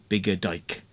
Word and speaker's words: Biggadike: biger Dy and I don't know how you pronounce that but it's Biga as in b g g a d i k e bigger dyke that's his name but he doesn't like his